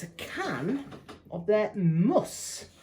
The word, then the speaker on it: Mus: It's a can of their Muss, or Moose, or M-U-S, I assume it's pronounced Muss.